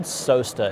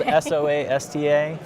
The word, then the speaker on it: SOASTA: your company name yeah it's called sosta it's spelled s-o-a-s-t-a uh we get soasta a lot yes that's what i